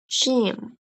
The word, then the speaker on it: gym: When G comes before E, I, or Y, it says Ch. Example, giraffe, giraffe, giraffe. And then jam. Repeat after me, jam. Yes, and then the last, gym, gym, gym.